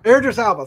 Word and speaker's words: Idris Elba: Idris Elba.